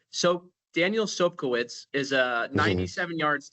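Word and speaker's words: Sobkowicz: And then the next thing you know, Sopkowitz is how you pronounce it, had hauled in his 17th TD pass of the year.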